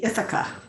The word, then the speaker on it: Ithaca: is from if i've got it correctly um itaka in new york we say ithaca ithaca new york okay excellent thank you for that and i do pronounce my name as mayor as in say